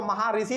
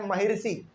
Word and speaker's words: महर्षि: नाम था महर्षि कन्नड़ बहुत सारे लोग इसको मा ऋषि पढ़ते हैं नहीं इसका हालांकि इसको हम लोग हिंदी में उच्चारण करते हैं महर्षि क्या करते हैं भारत